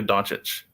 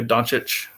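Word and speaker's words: Dončić: It makes me just I hear that name and I just want to say Luka Doncic.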